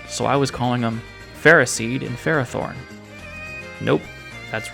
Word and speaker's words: Ferroseed: And so, these ones are Ferroseed and Ferrothorn, which sounds like ferocious and seed and ferocious and thorn.